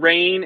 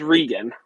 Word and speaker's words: Regin: Okay, it's Regin. It's just nice, short, and sweet. I promise it's not Rain. It's not Reggie. It's just Regin.